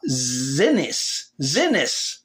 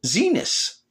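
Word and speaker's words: Xinis: District Judge Paula Zenas, or Zenas, yeah, that rhymes with a word she doesn't like, that if Abrego Garcia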